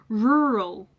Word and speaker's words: rural: So if you are not very good at pronouncing the letter R in English, I could see why you could struggle with this because it is a back-to-back R.